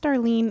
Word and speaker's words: Starline: find me on Twitter at Starline X but pronounced Darlene X but for spelling purposes Starline X that